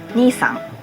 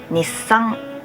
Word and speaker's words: Nissan: Anyways, Japanese people might not recognize it when you pronounce it Nissan, because that sounds like Japanese word Nissan that means older brother. Japanese natives pronounce it Nissan. Nissan.